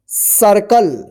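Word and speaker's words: circle: ठीक, सी आई आर सी एल ई, इसको क्या पढ़ेंगे सर्कल। देखिए यहां पे सी के बाद एल रहता है ना तो इस सी का आप जो है ना क उच्चारण कीजिएगा।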